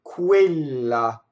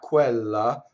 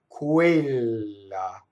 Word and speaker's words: quella: Going on, quella, not quella, quella. So QU is ku, right? This E is a stressed E that is closed, quella. So all of these words like quella, questa, questo, quei, those are all closed E's.